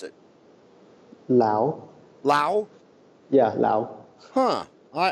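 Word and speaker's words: Laos: do you pronounce it Lao Lao yeah Lao huh I I was uh I I always thought it was LA but it's Lao so the S is silent yeah yeah and where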